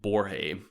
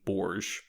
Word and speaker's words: Borge: butcher his name but i think you pronounce it borje but everyone calls him borge because i think no one knows how to pronounce his name we're not the people